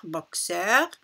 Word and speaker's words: boxeur: et exercice donc cette attention à la prononciation ici on dit kseur boxeur ici jeudi 10 et